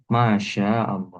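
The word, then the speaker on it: ما شاء الله: Masyaallah. Makanya Mas tuh kalau ngetip di WA pun juga ee diperhatikan panjang pendeknya mana ya. Masyaallah ma panjang. Sy panjang lafaz Allah lanya itu panjang ya.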